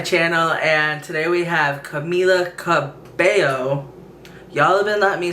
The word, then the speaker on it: Camila: wrong and then i finally realized it was camila not camilla so i fixed that but i was still